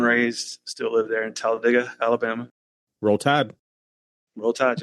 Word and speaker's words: Talladega: It's not Talladega or Talladega. So that's a big contentious point with us. Wait, how do you say it then? One more time. Talladega, like you dig a hole.